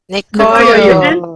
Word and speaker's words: Nkoyo: And Nkoyo. sorry if I Nkoyo. pronounced your name wrongly. Nkoyo. Nikoyo, The N is silent in most of the Nikoyo.